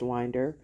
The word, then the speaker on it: Winder: have been pronouncing it as wer but it's pronounced Winder um and this is the the high school